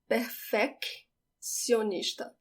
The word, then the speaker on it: perfeccionista: I do need to hear the two C's here. I am going to exaggerate it now just so you hear it. Perfeccionista. But now I'm going to read it normally. Perfeccionista.